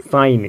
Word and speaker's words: sign: साइन, यहाँ एन से पहले क्या है, जी है, तो यहाँ भी हमारा जी साइलेंट होगा।